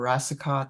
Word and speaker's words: Rasicot: different so it's it's it's just a French pronunciation of rasicot yeah okay so we're